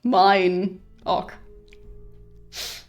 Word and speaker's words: Minoc: I thought it was supposed to be pronounced Minoc, but apparently it's his, so mine Ock.